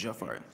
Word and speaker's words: Jafari: You pronounce it correct the first time, it's Jafari. You can say Jafari, but my mom named me Jafari.